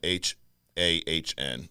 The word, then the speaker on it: Hahn: But yeah, Catherine Hahn, Hahn.